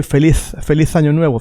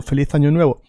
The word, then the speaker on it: Feliz Año Nuevo: Now, in Spain, as you know, the letter Z is pronounced like the TH in English. So you would say Feliz Año Nuevo, Feliz Año Nuevo.